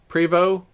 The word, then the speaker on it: Prevost: There's a name of a bus, a Prevo. I think it's spelled like Prevost. Prevost. I think it's called Prevo though.